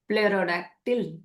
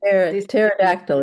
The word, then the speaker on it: pterodactyl: It was evolved into Pterodactyl. Pterodactyl, they say pterodactyl. I think they don't say the P. Right, pterodactyl. P is silent.